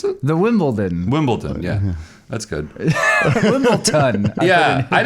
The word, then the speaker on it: Wimbledon: I say a soft T. Yeah. Is what I do. It's spelled with a D, but I say it. Wimble. There's like an implied T there, I think.